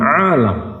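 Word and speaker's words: عالَم: Ketika kita mengucapkannya dengan alam, ainnya kita baca sedikit panjang dengan tambahan alif lalu lamnya dipatahkan. Akan berbeda ketika kita membacanya dengan alim, ketika lamnya dibaca kasrah.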